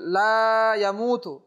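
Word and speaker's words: لا يموت: ইউমীতু, ওয়া হুয়া হাইয়ুল লা ইয়ামুতু। লা এখানের মধ্যে লা শারীকা লাহু যেমনিভাবে এখানে ইম্পর্টেন্ট জিনিস, এখানেও লা ইয়ামুতু এই লামের মধ্যে অবশ্যই তাকে এক আলিফ টান দিতেই হবে, অর্থ পরিবর্তন হয়ে যাবে।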